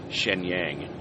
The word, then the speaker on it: Shenyang: that's nearby is Shenyang it's the way it's spelled it's spelled like you would say it Shenyang you know but so